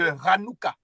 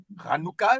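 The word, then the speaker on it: Hanoukka: qui veut dire dédicace par exemple là les juifs vont fêter bientôt là la fête de Ranoua Ranoua ça commence par cette lettre là ça veut dire dédicace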